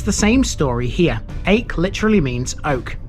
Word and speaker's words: Aike: the same story here ache literally means oak the locals sometimes pronounce it yak last week we mentioned